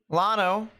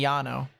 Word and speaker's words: Llano: anyone that lives near Lano or actually that's technically Yano because two Wells and I'm pretty sure it's Hispanic two L's and Spanish is pronounced yeah and that is